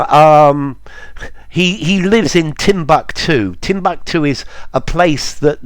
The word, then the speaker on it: Timbuktu: places for Timbuk2 yeah the British say Tim back too but um I've heard